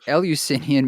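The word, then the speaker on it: Eleusinian: wouldn't like the ellis is elusian am i pronouncing it right alusinian perfect alusinian mysteries weren't why wouldn't they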